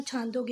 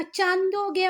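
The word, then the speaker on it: छान्दोग्य: Spelling ये वाली learn करना, पर बोलना छांदोग्य ही, नहीं तो किसी हिंदी वाले को बोलोगे ना चांदोग्य उपनिषद, है ना, तो जो ब्राह्मण पंडित होगा ना वो मारेगा आपको पकड़ के, क्या बोल रहे हो भैया ये?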